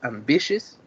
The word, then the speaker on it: ambitious: or the eighth is ambitious it is on the second syllable and the whole phrase